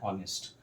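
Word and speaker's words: honest: कर रहे हैं तो हमारा प्रोनाउंसिएशन आ रहा है ऑनेस्ट, यानी कि ओ आ रहा है।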